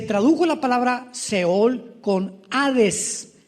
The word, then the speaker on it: Hades: la palabra Seol con Hades con h que muchos dicen jades se puede pronunciar así porque es en el griego y Cristo cuando él